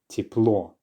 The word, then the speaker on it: тепло: So just like with the or that I keep talking about, the letter Ye also gets reduced when it's in an unstressed syllable. So because it's the or in this word that is being stressed at the end, the first syllable, tiep, is therefore unstressed and the ye is going to be reduced. Тепло.